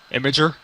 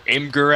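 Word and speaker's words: Imgur: image sites you know of imager or imer as some people pronounce it any search engines of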